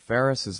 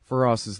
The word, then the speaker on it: Feras: be and you know call it Faris's law for us as law I'm sorry I'm saying his name wrong feroz's law that it has